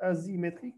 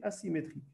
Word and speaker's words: asymétrique: On prononce bien S, même si je n'ai qu'un seul S ici. Donc, on ne lit pas asymétrique, mais asymétrique.